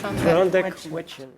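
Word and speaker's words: Tr'ondëk Hwëch'in: Klondike Huichin. Klondike Huichin.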